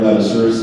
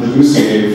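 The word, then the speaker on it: Ladouceur: It took me a couple of years to pronounce Robert Ladisseur's name correctly. I called him Robert Leducier for 2 years.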